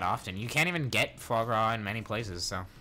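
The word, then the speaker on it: foie gras: you can't even get fog RA in many places so frog ra yeah that's how you say it although how you spell it it's a completely different thing they should I think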